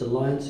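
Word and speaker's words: Allianz: And although it's spelled differently, it's Alliance Insurance.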